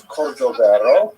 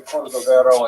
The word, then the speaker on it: Cordovero: on his Marseva illustration, it's Cordoero. It's a Portuguese spelling, but it's kind of a strange thing to pronounce in Hebrew, so it was sort of mangled into Cordovero, and that has become standard, even though it's probably not correct.